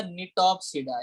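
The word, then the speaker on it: Gnetopsida: उसके बाद आता है बेटा निटॉप्सिडा, इसमें जी साइलेंट है।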